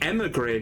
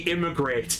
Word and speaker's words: Emigre: Also, yes, it is pronounced the Emigre document. I'm not gonna lie, with all of the cutting out of the dialogue, I thought he was talking about the Immigrate document, and I'm like, so what?